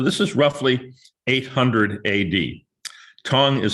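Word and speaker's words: Tang: tong dynasty so this is roughly 800 ad tongue is spelled t-a-n-g but as many of you know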